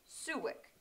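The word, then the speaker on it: Soljić: In Croatian, it's pronounced Suwik.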